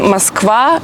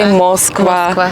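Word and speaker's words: Москва: The only thing that changes is that usually in Russian it goes for the last part of the word and in Serbian in the first syllable. Like for example, in Russian Moskva and you say Moskva.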